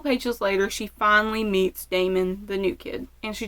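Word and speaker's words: Damen: I keep wanting to say Damien, and in fact, in a lot of my notes, it is Damien. But it is Damon. There's no I.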